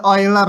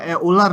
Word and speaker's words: Euler: Ini bacanya Euler ya. Kalau susah ya Euler gitu.